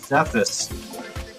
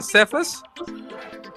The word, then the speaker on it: Cephas: pronunciation, Cephas? Yeah, I say Cephas, but yeah, I'm sure you can say it however. It's an Aramaic word. Yeah, because it's K-Fi, I think, also in Aramaic.